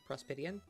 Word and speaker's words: Prospitian: Prospitian is usually how we pronounce Prospitian.